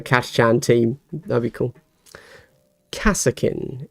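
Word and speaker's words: Kasrkin: Kassakin is how I would pronounce a correctly spelled word there, Eddie. But the way you've spelled it, I would pronounce that Carskin, because it's incorrectly spelled, yes.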